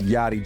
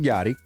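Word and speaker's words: Yari: you guys know Miss yachty Jones Okay pronoun it's spelled y a r i but it's pronounced yotti another New Yorker from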